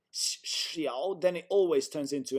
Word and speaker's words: 小: 多小, xiao. 多小. And this is, it's like a snake hissing. Yeah, xiao. 多小. It's almost like we say she. It's exactly like we say Kina in Swedish.